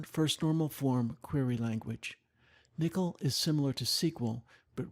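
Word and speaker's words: N1QL: provides a query language called Nikhil which is spelled n 1q l it stands for non first normal form query language Nikhil is similar to sequel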